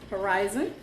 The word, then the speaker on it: UIRZTON: So I got this package from Horizon, and it is spelled UIRZ as in zebra, T-O-N.